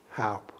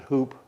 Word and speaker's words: Houp: your name sir james howe h.o.u.p h-o-u-p-p halp help how a lot a lot of them pronounce it hoop hoop yeah but what is